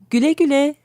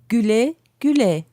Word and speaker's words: güle güle: one that will work in most situations is Güle güle, listen again to how Şebnem pronounces this. güle güle, Try it one more time.